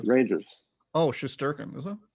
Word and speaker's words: Shesterkin: Oh, Shesterkin, is it? Shesterkin, yeah.